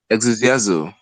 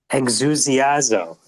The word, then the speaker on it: Exusiazo: Exusiazo. Exusiazo. Yeah, the E is silent.